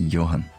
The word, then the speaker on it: Johan: Não é John nada, é Johan.